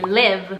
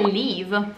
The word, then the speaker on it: live: C'è nella parola vivere, live, che non è leave, andarsene.